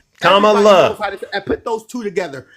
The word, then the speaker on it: Kamala: Because if you can't get comma, everybody knows how to say comma and put a la at the end of it. Kamala. And put those two together. Kamala.